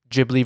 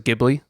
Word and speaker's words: Ghibli: ] that up because the word itself is based on some Italian word Ghibli okay yeah yeah but Miyazaki himself pronounced as a Ghibli Ghibli Ghibli so he